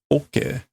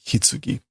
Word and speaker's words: 棺: Okay, this is oke or kan. This is like coffin. What is hitsugi? It is also coffin, casket. Okay, so apparently it can also be pronounced hitsugi.